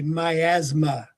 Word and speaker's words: miasm: every disease was a myasma. Now we say myasm but it was a myasma.